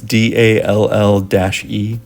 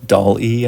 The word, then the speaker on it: DALL-E: Microsoft's Bing AI image generator uses OpenAI's, I don't know if I'm pronouncing this right, but it's DALL-E, DALL-E, I think is how you say it.